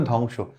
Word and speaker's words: ধ্বংস: এটা উচ্চারণ হবে কি ধ্বংস না এটা কিন্তু উচ্চারণ হবে ধ্বংস আসলে বলা যখন সামনে থাকে বা সামনের লেটারের